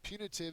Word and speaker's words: punitive: moving on to punitive punitive is an adjective first syllable has the accented Mark it's inflicting or aiming